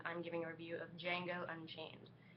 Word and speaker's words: Django: giving a review of django unchained the d is silent so don't walk around saying django uh you're going to